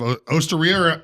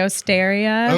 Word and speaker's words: Osteria: I think a lot of people say Osteria, but I think that's just, our English wanting to pronounce that E a little different.